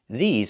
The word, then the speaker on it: these: These are cars. Not this is cars, but these are cars. Pronunciation. Make the long E sound like green beans. E, these, plus the Z sound like zebra. These.